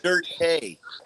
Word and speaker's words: Doughty: His name is Dirt Hay. That's right. With the accent on the E.